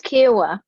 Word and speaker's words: Kiawah: think it's becoming a popular destination kiwa it's kiwa kiwa island and it's outside charlotte i mean